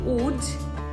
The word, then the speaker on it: Łódź: উজের উজের spelling কিন্তু এল ও ডি জেড তো এখানে এলটার পেটটা কাটা থাকে তাই জন্য ওটাকে পেট কাটা মধ্য এল বলে এল এর কোন মানে ওটা বয় প্রোনাউন্স করা হয় তো তাই জন্য তার নাম হলো উজ প্রথম যখন আমি নতুন